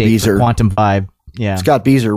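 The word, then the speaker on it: Scott Bieser: Scott Beezer rhymes with geezer.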